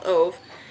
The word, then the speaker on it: Ove: or aldi or whatever i thought it reminds ever rhymes with love so i think it's a man called oath and um i tried